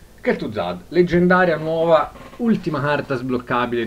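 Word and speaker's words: Kel'Thuzad: di kelt tu Zad che si pronuncia proprio kelt Zad tutto veloce e tutto attaccato kelt Zad leggendaria nuova ultima carta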